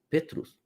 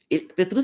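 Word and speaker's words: Pétrus: Muitas palavras em francês não pronuncia o S e tal. Ele falou, não. Apenas, não é Chateau, é Petrus. Petrus, ele é tão icônico,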